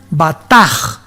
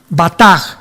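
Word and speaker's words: בטח: Y es la palabra hebrea batach, con B de burro y CH al final. Se pronuncia bataj, bataj.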